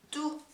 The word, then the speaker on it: tout: 즉, 남성 단수는 뚜, 여성 단수는 뚜트, 의가 붙은 형태, 남성 복수는 뚜, 그리고 여성 복수는 뚜트 이렇게 돼요. 여기 발음하지 않아요.